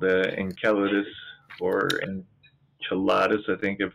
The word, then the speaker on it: Enceladus: If it was the original Latin, it's Enc, because there's no soft C in Latin, but Enceladus.